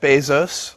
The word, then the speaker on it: Bezos: Well, that same thing is happening in Bezos, but doubled, because both syllables in his own pronunciation are both diphthongs, A-O.